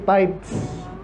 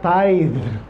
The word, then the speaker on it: tithe: k sabi ni Pastor hindi tights hindi tights kasi parang maano daw e Parang mahigpit eh an hindi ganon hindi kaya tide hindi tight kasi ung tight may g ' ba yan so sa pagbigkas pala importante na Anyway all the tight